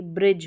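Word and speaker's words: bridge: फिर नंबर 10 पर है हमारा DGE, ये भी स्पेलिंग के लास्ट में आएगा, और इसको क्या पढ़ना, आपको ज पढ़ना है। इतनी बड़ी स्पेलिंग और पढ़ना क्या है, ज, ये वाला ज होता है ना, ज। तो देखिए BR जो रहता है ना, इसको ब्र पढ़ते हैं, तो ये ब्रिज हो गया, ब्रिज।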